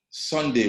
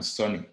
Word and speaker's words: Soni: Don't call me Sunday when I'm Sonny. You will go and research, for goodness sake. My name is Sonny, you know.